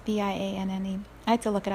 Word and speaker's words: Vianne: It's Vianne.